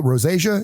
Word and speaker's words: rosacea: Is it rosacea?